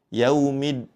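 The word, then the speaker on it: يوم الدين: Pada kata ini hati-hati saat mengucapkan huruf dal bertasydid. Jangan sampai seperti huruf ta sehingga bacaannya seperti ini. Yaumiddin ya. Di awalnya seperti ee ada pengucapan huruf ta. Yaumiddin seperti itu. Namun kita sempurnakan pengucapannya dengan huruf dal.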